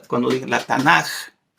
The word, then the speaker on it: Tanakh: Entonces vamos a, cuando digan la Tanakh, como J, perdón, no como G, como J.